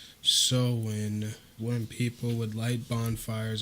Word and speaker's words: Samhain: This is the Celtic holiday called Halloween, originated with the ancient pagan festival pronounced Samhain, when people would light bonfires and wear costumes to ward off spirits.